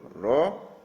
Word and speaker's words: rho: Jadi sekali lagi membacanya rho ya.